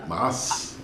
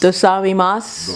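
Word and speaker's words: ございます: Gozaimasu. Arigato. Thank you very much. Arigato. Gozaimasu. Dosaimasu.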